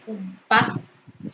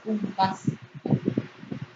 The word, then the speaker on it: compás: Se pronuncia con mayor intensidad la última sílaba compás. Según las reglas de ortografía, al terminar en S debe llevar tilde, compás.